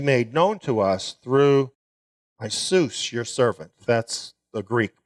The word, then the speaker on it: Iesus: servant, which you made known to us through Jesus, your servant. That's the Greek pronunciation.